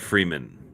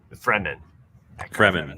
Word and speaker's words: Fremen: Eckhart Freeman. That was an easy one. Fremen.